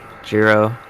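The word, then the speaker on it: Giro: Um, Jurro, he uh, you know, rhymes with Zero.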